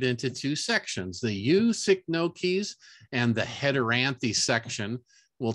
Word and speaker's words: Cycnoches: could be right or seek no cheese pretty sure that's not right but the proper pronunciation is sick no keys with the emphasis on the no sick no keys the